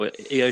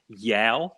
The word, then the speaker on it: Io: So her name is Io Shirai. It's spelled I and an O. I have heard people say Yao Shirai.